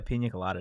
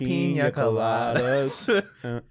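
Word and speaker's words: piña colada: Tastes like a pina colada to me, honestly. Are you really pronouncing the N in pina colada like that?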